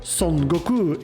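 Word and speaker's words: 孫悟空: earning him the religious name of Sun Wukong, pronounced SonGoku in Japanese, meaning monkey awakened to the void.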